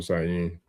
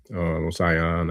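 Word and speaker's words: Osanyin: Because herb spirits, that's definitely Osayin. Osayan. I don't know if I was saying it wrong all these years, but Osayin.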